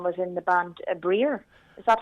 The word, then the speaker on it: Briar: paddy gordon um was in the band a breer is that how you pronounce it yeah breyer the briar folk group briar in the band